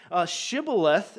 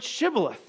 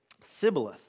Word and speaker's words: Shibboleth: If you are so, as you say, say the word Shibboleth. And they would say, because they couldn't pronounce the sh sound, they'd say, Sibboleth.